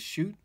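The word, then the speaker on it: Schott: I believe you pronounce that brand as Shoot, but they're very, very expensive.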